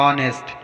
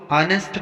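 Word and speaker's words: honest: For example ऑनेस्ट, यहाँ पर ओ से पहले एच आया है तो यहाँ पर एच का उच्चारण नहीं होगा, इसको हम ऑनेस्ट पढ़ेंगे।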